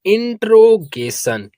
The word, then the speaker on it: interrogation: अगर आपको नहीं मालूम कि जहां पास डबल वर्ड एक साथ आते हैं तो उसका प्रोनाउंसिएशन सिंगल ही होता है, एक ही वर्ड को पढ़ा जाता है। जैसे यहाँ पास आर डबल बार आया है, लेकिन इसका प्रोनाउंसिएशन सिंगल हुआ है। इस बात को आप लोग याद रखेंगे।